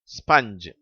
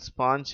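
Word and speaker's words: sponge: மங்கி mother rubber shovel ஸ்பஞ்ச் இதுல கடைசி வார்த்தை தவறாக ஸ்பாஞ்ச் என்று உச்சரிக்கிறார்கள் அதனுடைய சரியான உச்சரிப்பு ஸ்பஞ்ச் மங்கி மதர் ரப்பர் ஷவல்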